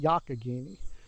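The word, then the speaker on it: Youghiogheny: looks like it should be yoyoi but it's pronounced yakini or simply the yak for short the yak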